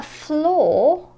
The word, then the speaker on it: flaw: A flaw, which has the same vowel sound as the previous word, pore, flaw.